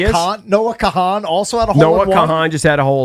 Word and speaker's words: Kahan: I think I just saw your boy Noah Kahan just had one too. Or Noah Khan. Noah Khan. It's spelled Kahan. It's spelled Kahan. People call him Noah Khan.